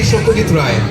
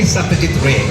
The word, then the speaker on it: Satyajit Ray: So if I say it in Bengali, it will be Shokyajit Rai. If I pronounce it in Hindi and English, it will be Satyajit Ray.